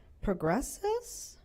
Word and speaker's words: Progressus: provided in with the master service agreement with Progressus? How do you pronounce that?